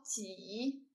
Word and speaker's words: 脊: 第三个字读作挤，山挤的挤，也是脊背的脊。